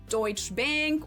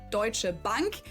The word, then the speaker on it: Deutsche Bank: But Americans usually call it Deutsch Bank or Deutsche Bank or something like that. In German it would be Deutsche Bank and it literally just translates to German bank.